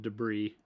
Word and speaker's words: debris: So it's just a pile of battlefield debris.